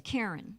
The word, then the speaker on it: Krian: So originally you and is it I know it's it's spelled Krian and she's she says Karen. Is it is it pronounced? My name is Karen.